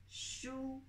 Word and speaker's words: 书: This is Chinese pinyin. Shu. U, wu, wu, wu. Full sound. So this is the first sound.